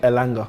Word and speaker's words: Elanga: Elanga.